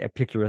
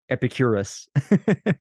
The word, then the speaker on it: Epicurus: Anyway, I say, what do I, not Epicurus, I say Epicurus. I mean, you know, or that was my, like, that's how I phonetically pronounced it, I suppose. It's the emphasis on the right, syllable.